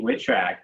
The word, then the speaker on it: Witrak: going to have on the show is maxie witchrack if you could join us i hope i